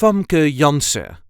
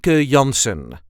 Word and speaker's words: Janssen: Dutch pronunciation is f yans as you can hear I do not pronounce the N at the end if you want you can and it will sound like this F yanson there is a slight